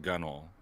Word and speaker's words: Gunwale: I figure if it it looks like gunwale and it's pronouncing gunnel then if it looks